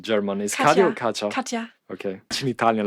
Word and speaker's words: Katja: How you pronounce it in German? Is Katja or Katja? Katja.